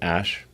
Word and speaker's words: Æ: x um and then the ae is like pronounced ash yeah and then uh